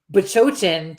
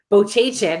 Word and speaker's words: Bachochin: You, on the other hand, we could say Bachochin to you 25 times to your face, and you're still going to say Bochachin every time.